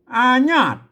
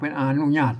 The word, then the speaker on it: อนุญาต: บ่ ได้ ขัด ขวาง อาญาต มัน ต้อง เป็น อนุญาต อาญาต อาญาต เปิ่น ว่า อนุญาต อานาต อาญาต นาง อายาต